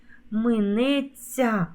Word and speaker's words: минеться: усміхнеться загубилося ть с Справа в тому що у дієсловах на ця завжди пишемо знак м'якшення і вимовляємо ця як ця як м'який подовжений звук ць три букви а звук один ць наприклад дивляться посміхаються сміється